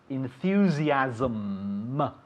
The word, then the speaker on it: enthusiasm: Ending with an M. It's very important to hear the M at the end. Enthusiasm. The translation is very easy, but what is it? Entusiasmo. Exactly. And in English? Enthusiasm. Very good, enthusiasm. You have to be very conscious of closing your mouth at the end of this word. Enthusiasm. Because if not, you'll say enthusiasm y no entendemos nada.